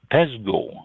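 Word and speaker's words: pezsgő: have for you is Pez pezo I think that's how it's pronounced p zsg o with uh two little like quotation marks above the o p zsg o this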